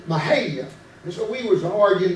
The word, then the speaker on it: Mexia: And my buddy said, it ain't Mexia, it's pronounced Mahia. I said, that is Mexia. And he said, Mahia.